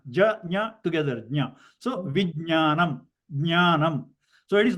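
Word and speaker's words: vijñāna: Okay, and a lot of people do not pronounce this right because instead of ja they pronounce ga. Like instead of vijnana they say vigyana. Okay, so the right pronunciation is ja and nya.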